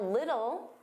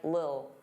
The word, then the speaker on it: little: Now little, native speakers, including me, generally pronounce the T's as soft D's. Little, little. Some native speakers really reduce this word and it just sounds like lil, lil, get a lil, get a lil. But you can pronounce those as soft D's. Get a little, little, get